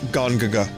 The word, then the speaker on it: Gongaga: It turns out we've been pronouncing it wrong this whole time. It's pronounced Gongaga.